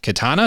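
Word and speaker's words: Kitana: Uh, we get the first look at Johnny Cage, Katana.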